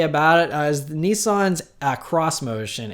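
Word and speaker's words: xmotion: it as Nissan's a cross-motion it's spelled ex motion but they say to pronounce it cross motion and this is just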